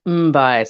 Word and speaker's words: Mbye: well good question so jasmine the center is pronounced mumbai so like i always think of like um